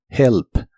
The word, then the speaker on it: remember: mucho más suave y la primera e de esta palabra se pronuncia como una I corta remember remember Y estos son los